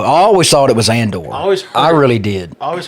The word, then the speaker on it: Andor: was asking you about, it's called Andor. And you said it's pronounced Endor. Well, there is a planet in Star Wars called Endor, and they call it Endor. Okay, well, this is Andor.